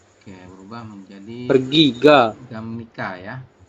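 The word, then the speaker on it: 갑니까: gamnika ya. Bukan gap tapi gam dibacanya. Ya, gap. Bacanya gam kayak gini Ya, ya.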